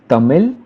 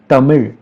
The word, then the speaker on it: Tamil: Another interesting fact is that the last L in the word Tamil is actually R, and therefore it's not Tamil but it's Tamil.